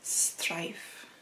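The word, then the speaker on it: straif: And I'm going to translate in English because the book is in French, but the way that you say it in Old Gaelic is strife, which also has this word of, you know, strife, having a fight, having a conflict with someone.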